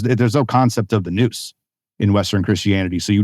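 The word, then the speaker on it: nous: that well there's there's no concept of the Noose in Western Christianity so you don't have the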